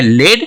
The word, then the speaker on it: lead: अब इसको देखो, इसका दो प्रोनाउंसिएशन है, LEAD, एक है लेड और दूसरा है लीड। तो यहाँ पे क्या हो गया, ग्राफ तो सेम है, स्पेलिंग तो सेम है, LEAD, तो एक हो गया लेड और एक हो गया लीड।